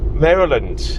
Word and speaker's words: Maryland: Maryland.